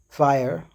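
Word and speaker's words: FHIR: I've worked with um transport systems like HL7 and fire which is pronounced fire but written FHI I've worked with the clinical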